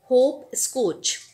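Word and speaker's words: hopscotch: इसी तरीके से हम सिखाएं बच्चे को होप स्कोच, तो HOP होप, स्कोच SCO, यहाँ पे टी साइलेंट रहेगा, ये हमें बच्चे को बताना है।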